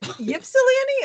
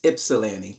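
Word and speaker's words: Ypsilanti: Jennifer, is it Ipsyani or Ipsellani? Michael, what is it? It's Ipsellani.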